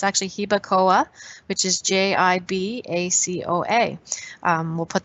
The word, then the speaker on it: Jibacoa: She wasn't sure how to spell it. So it's actually Hibacoa, which is Jibacoa.